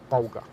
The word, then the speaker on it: Bolger: He told me, and I believe it's pronounced Bolger.